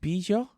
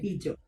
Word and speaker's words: Bijo: The brand is pronounced Bijo. Is that right? Bijo. Bijo. Yeah. Okay. Bijo.